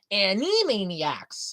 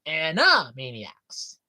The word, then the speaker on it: Animaniacs: off how they keep mispronouncing the name. Animaniacs. It's not Annie. It's Anna. Anna Maniacs.